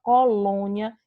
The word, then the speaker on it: colônia: Então, quando você pronuncia a palavra colônia, esse lom, você não consegue que sua boca ela fique super aberta.